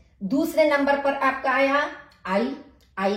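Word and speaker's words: Ä: दिए, उमलाउट लगा दिया, तो इसका उच्चारण हमारा हो गया आई।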